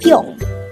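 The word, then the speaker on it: 평: Pyong also has an ieung on the third position. That's why it is pronounced as pyong.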